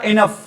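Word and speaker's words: enough: इनफ। इनफ क्या होता है बेटा? काफी। कई इसको बोल दे बेटा इनाउच बोल देते हैं।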